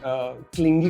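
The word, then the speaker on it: clingy: तो एक दफ़ा मैं क्लास पढ़ा रहा था तो गलती से मैंने क्लिंगी को क्लिंजी बोल दिया।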